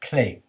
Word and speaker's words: clef: notes mean in fact the French word for key is Clay which is spelled clef different clefs are used